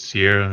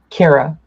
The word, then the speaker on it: Ciara: sorry on that note Sierra am I pronouncing your name correctly is it Sierra or do you have like some other pronunciation Cara Cara Cara see I knew I